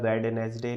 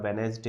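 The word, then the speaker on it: Wednesday: डे ट्यूसडे और वेनसडे वेनसडे का D silent होता है वेडनेसडे नहीं होता वेनसडे होता तो वेनसडे ऑफ दिस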